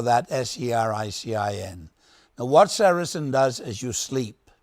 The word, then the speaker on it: sericin: You spell that S-E-R-I-C-I-N.